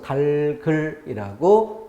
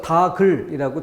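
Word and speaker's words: 닭을: 똑같이 안자가 당연한 것처럼 닭 뒤에 을이 오면은 리을 기억이 넘어가서 달글이라고 발음해야 하는 것이다. 근데 일상에서 다글이라고 잘못 발음하는 것이 많이 사용되는 경우가 있고 그게 익숙한 사람들은 헷갈릴 수 있다는 거죠.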